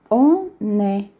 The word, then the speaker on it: on est: On est. Então, não tem nem o S, nem o T não se pronuncia. Então, fica on est.